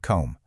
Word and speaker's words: comb: We have the silent K in knee, the silent W in right, and the silent B just hiding out there at the end of comb.